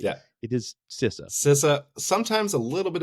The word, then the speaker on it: CISA: like to say that I pronounce sisa correctly because I've talked with folks from sisa and it's not cisa it's sisa so for all your other